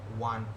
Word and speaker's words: one: O is a vowel here, so we according to logic we had to use an here, but no, we will use a because pronounce the word one. Why we the sound of wa we are getting, that is why we are using a here.